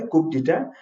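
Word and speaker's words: coup d'état: ठीक है, COUP DE''TAT, ऐसे होता है कूप डिटेट, लेकिन कूप भी यूज करते हैं।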